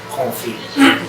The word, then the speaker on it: confit: You don't say it like it spells. Okay, because it sounds like coffee. Yeah. Confit.